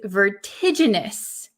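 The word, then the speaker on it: vertiginous: Okay, the next word is can you pronounce this word? This is vertigenous.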